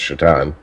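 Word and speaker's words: Šatan: was miroslav because one his last name was spelled satan but pronounced chaton and two the dude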